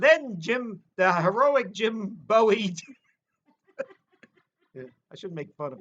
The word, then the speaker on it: Bowie: then we'd say you don't know anything it's pronounced bowie i'll tell you something funny about um i